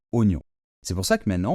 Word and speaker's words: oignon: aucun sens ici puisque la prononciation correcte est oon parfaitement donc on ne dit pas oagon hein si on le lit normalement on devrait prononcer un O et un I ou a et non on dit oignon c'est pour ça que